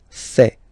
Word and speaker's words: fait: Il, masculin, and then elle, féminin, fait. Final T not pronounced. Il, elle, fait.